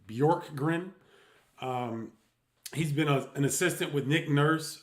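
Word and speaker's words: Bjorkgren: is how you pronounce it BJ o r k g r n bork grin um he's been an assistant with Nick nurse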